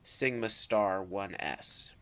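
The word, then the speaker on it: σ*1s: Sigma 1s again but it has the star and so this is pronounced Sigma star 1s ok and so this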